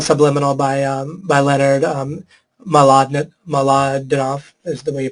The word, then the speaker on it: Mlodinow: I can give you other ones as well, but the book is called Subliminal by Leonard Mlodinow, is the way you pronounce that.